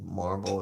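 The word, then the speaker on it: Mar-Vell: some shape shape shifting they kind of address how marble is supposed to be pronounced like barbell or marble and barbell sounds better in Wendy Lawson that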